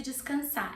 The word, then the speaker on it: descansar: Hoje eu preciso descansar. As I said before, descansar has an R. I'm not pronouncing the R. It's optional.